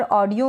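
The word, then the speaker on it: audio: spelling दे रखी है ऑडियो यहां पर ऑडियो में हम ए यू को ओ पढ़ रहे हैं ठीक है यानी कि ये जो ए यू है ये ओ बन गया है ऑ और ये जो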